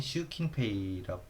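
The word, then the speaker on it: 習近平: 아, 이거는 슈킨페이 시신핑이라고 읽기 하는데 보통 슈킨페이라고 어 읽고요. 네. 일본어로도 시진핑이라고 우리나라 말로 하는데 스금 근데 어 하 일본어로는 시침핑이라고 뉴스에서 들어본 적은 없는 거 같아요. 그래서 그냥 슈킨페이라고 보시면 되고요.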